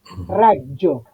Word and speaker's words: raggio: Raggio, raggio. Rayo. Ujú. Exacto. Además de la dificultad que comporta pronunciarlo bien, que la tiene, está el tema de que hay una doble G escrita. Entonces, con más razón, si